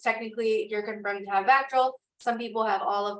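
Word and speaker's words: VACTERL: I don't know whether it's pronounced Vactoral.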